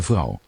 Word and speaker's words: vrouw: De vrouw. De vrouw. So one final, one small note here. Vrouw. This OU together is pronounced as ow.